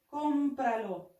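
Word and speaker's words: cómpralo: لديها أسنتو اون تيلدي والنطق يكون هكذا كومبرا، لأن الليبرو هو مذكر كومبرالو. ولي أعد معي كومبرالو.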